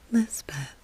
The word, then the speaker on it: Lispeth: The Khotgar chaplain christened her Elizabeth and Lispeth in the Hill or Pahari pronunciation.